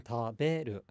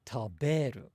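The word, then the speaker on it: 食べる: So rather than saying taberu, taberu, it's more like taberu, taberu. That's a little bit of an exaggeration, but that's one good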